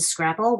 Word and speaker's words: Scrapple: teacher her name is mrs scrapple rhymes with apple looks around the class